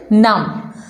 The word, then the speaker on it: numb: word which is num in this world be litter is silent so the correct pronunciation is num the meaning of naam